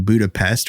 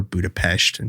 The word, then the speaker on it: Budapest: And one of the first examples he talks about that was in 1881 when he was living in Budapest, or Budapest, depending on how you want to pronounce it.